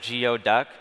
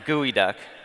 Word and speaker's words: geoduck: While all you geo-geeks at this geo-conference may have thought this is a geo-duck, it's pronounced gooey duck. We brought a live one with us. You want to see it? The gooey duck is a Pacific Northwest